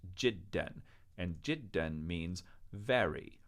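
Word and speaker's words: جدًا: is pronounced N and because of a spelling hangover from Quranic days we have to put an extra silent Aleph there don't worry about this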